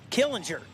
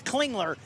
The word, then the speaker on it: Clingler: Nope, it's Clingler. I said it wrong at the first race cuz it was spelled wrong. Now they have it spelled right and I'm trying to say it wrong like I did at the first race. Clingler. I got it.